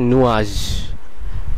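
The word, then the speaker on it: nuage: যদিও আমরা বাংলাতে দেখতে পারছি এর উচ্চারণটি হবে নুয়াজ। কিন্তু আসল ফরাসিতে এর উচ্চারণটি হবে নুয়াজ। আপনারা এইযের উপর কম স্ট্রেস দিবেন।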